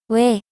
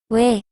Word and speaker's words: 왜: The last one is 왜, 왜. It is made by combining wu and a. So you have to pronounce wu and a in a row very quickly.